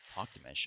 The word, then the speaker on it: Talktamish: Talktamish. Okay, that's how you say it, because I had no idea how to say it. I've heard every pronunciation you can think of. It's Mongolian.